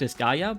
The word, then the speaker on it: Disgaea: I know it's pronounced Disgaea, but I like to say the wrong way